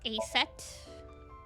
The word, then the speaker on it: Aset: About Aset. Horus's mom is named Isis. But in ancient Egyptian, it's pronounced closer to Ise or Aset.